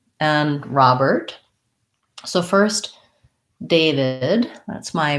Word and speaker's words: Robert: stress and then lastly robert we have an first syllable stress and it sounds like ah and then we have the er plus a t robert so all of those